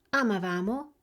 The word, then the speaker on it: amavamo: Avete sentito la differenza di posizione nell'accento tra il noi e il loro? Rivediamola insieme. Noi amavamo, avevamo, ci divertivamo e loro amavano, avevano e si divertivano.